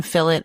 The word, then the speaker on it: fillet: Working with one fillet at a time. Yes, I know I say fillet and Americans say filt.